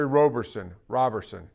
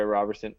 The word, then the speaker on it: Roberson: It's just Robertson without the T. But I think it's going to be Jeremy Lamb. I do not think it's going to be Andre Roberson.